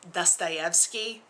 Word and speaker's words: Dostoevsky: so it's very important to me that it's pronounced correctly. Also, it's Dostoevsky.